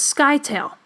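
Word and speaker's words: scytale: Another example of a cipher is a Spartan citadel, or sometimes they pronounce this skytail.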